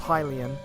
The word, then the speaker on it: Hylian: it a hyrulean and then I get told I'm wrong for saying that because it's pronounced Hylian well it's actually it